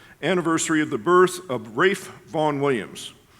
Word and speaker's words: Ralph: of the birth of rafe Von Williams it's spelled Ralph but he pronounced it in the Old English Wraith thus if you're